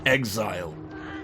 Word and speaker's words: XZR: So, it's probably XZR, but it's it's obviously pronounced exit exile because that's what's written on the letters.